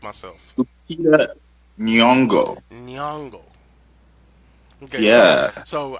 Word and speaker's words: Nyong'o: Lupita Nyong'o.